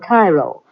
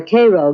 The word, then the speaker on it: Cairo: Oddly enough though, Illinois is sometimes referred to as Egypt because the fertility of the soil in and around Cairo or Cairo, giving it the Illinois pronunciation, resembles that of its Egyptian namesake.